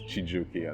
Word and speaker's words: Chijioke: People call me when they can't pronounce my name, but it's Chijioke as in Chijioke.